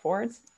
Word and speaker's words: Ford's: And, you know, my father worked at Ford's. And of course I say it like apostrophe S because I'm from Windsor.